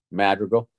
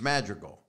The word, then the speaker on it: Madrigal: Madrigal. So it's the same. No, you put a J in there. Madrigal. Oh, no, that was a slur. That was just dumb. It's Madrigal.